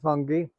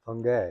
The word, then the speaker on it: Fangue: Yeah, in southern Louisiana, where my relatives come from, it's pronounced Fungi.